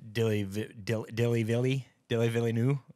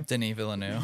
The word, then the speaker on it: Denis Villeneuve: Instagram just forced me to see things with Dilly Villeneuve. How do you say his name? Denis Villeneuve.